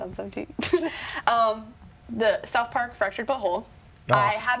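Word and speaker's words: The Fractured But Whole: 17 the South Park fractured behold I have not played the game say it right it's fractured but whole I want to say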